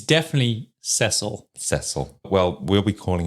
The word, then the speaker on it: Cecil: hotels in the world I think it should be cesil I yeah I have to correct myself every time CU I I see cesil but then I hear other people Americans say Cecil and it just what is